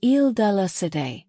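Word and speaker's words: Île de la: On March 18th, 1314, a platform was erected on the Isle Dea site, pronounced Il Dala, in Paris on the Sain River.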